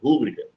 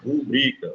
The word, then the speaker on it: rubrica: rubrica pessoal também É errado falar rúbrica Tá bom então o certo é o falar rubrica não tem acento aqui não é pr paraxitona a palavra rubrica ela é uma paroxitona beleza é penúltima sílaba mais forte então o bri que vai ser ali a minha sílaba tônica da palavra rubrica show de bola palavra